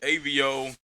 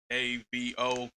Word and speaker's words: Ayvio: So Ayvio, it's really just my initials, man. AVO. But what I did was I kind of just threw the extra letters in there so it would be pronounced right. I didn't want people to say like Avo or Avo or anything like that. So I threw the Y and the I in there so you can phonetically say it.